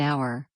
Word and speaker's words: hour: For instance, an hour starts with the vowel H, but the H is silent, so it's the sound OW that determines the use of an.